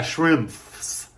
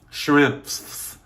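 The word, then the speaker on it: Schimpff's: Shrimps. Shrimps.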